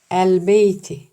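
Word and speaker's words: البيت: B kameri harflerimizden arkadaşlar. O yüzden elif lam takısının lamı okunur. Emamel Beyti. Emamel beyti. Seyyaratun bir araba. Cemiletun güzel. Emame önünde. Önünde var. El beyti.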